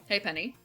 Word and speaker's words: halfpenny: Okay, I'm doing this really fucking poorly because I see like there's a note like, hey, it's spelled this way, but it's pronounced this way. Halfpenny.